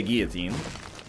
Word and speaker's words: guillotine: in Canada we say guillotine which I believe is the correct way to pronounce it in the language that it was invented for French definitely check this what